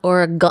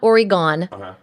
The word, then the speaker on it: Oregon: state of Oregon more importantly how do you pronounce the state of Oregon it's not oron it's not Oregon it's Oregon try it Oregon yeah it's beautiful it's not